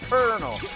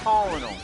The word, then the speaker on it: Colonel: and yes it's pronounced colal not not colonal CU for some weird reason back then I thought Colonel's name was pronounced col despite the fact that